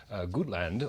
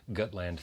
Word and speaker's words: Gutland: we're here to talk about a film called good land or as the director I think it's going to tell you also compute pronounced gut land thank you both for joining me here today